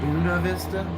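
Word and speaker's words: Buena Vista: but would you believe that a place that is spelled buo vista is called buuna vista they have a Spanish name too how vista good view how is it how is Dude, what?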